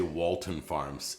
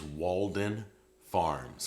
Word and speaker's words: Walden Farms: I want to make sure I pronounce Walden Farms. I used to say Walton Farms. It wasn't Walton Farms. I did that for years. It's Walden Farms, okay?